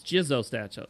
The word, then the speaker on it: Jizo: Oh, it's it's Jizo statues there. I know it's pronounced Jizu.